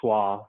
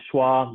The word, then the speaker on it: SCCHWA: of a particular word it's our pronunciation of the acronym for south carolina community health worker association so with that i want to welcome you all to the schwa mini conference 2020.